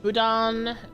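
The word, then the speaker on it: boudin: Uh budan pronounced budan is an iconic soft textured Cajun sausage.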